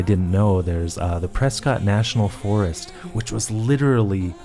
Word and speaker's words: Prescott: her game debut was at a college in Prescot I got to say it that way cuz it's not Prescott it's Prescot that's how it's pronounced just like how Norfolk is North so